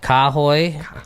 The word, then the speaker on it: Kahoy: So it's pronounced Kahoy.